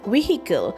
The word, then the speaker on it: vehicle: And the next word we have is vehicle spelled as we e h i c l e and we pronounce as we double e i c l e vehicle and the sentence that